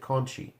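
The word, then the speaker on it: Conti: Kai versus tiny era Conte and they they pronounced it Conchie and I'm like well if that's not you're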